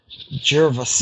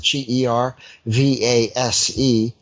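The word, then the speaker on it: Gervase: by this church chronicler Gervais eh I suppose that's how you pronounce it ger VA se and you know he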